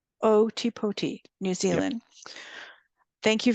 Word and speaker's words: Ōtepoti: Do you want to give me that pronunciation, Simon? Ōtepoti. Ōtepoti, New Zealand.